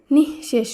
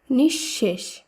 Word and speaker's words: নিঃশেষ: উচ্চারণ হবে অতঃপর একইভাবে নিঃশেষ নয় শব্দটি শুদ্ধ উচ্চারণ হবে নিঃশেষ কারণ বিসর্গের পরে এখানে তালব্যস আছে তাই তালব্যস বর্ণটি দুবার উচ্চারিত হবে তাই শব্দটি শুদ্ধ উচ্চারণ হবে নিঃশেষ একইভাবে দুঃসময় এই শব্দে বিসর্গের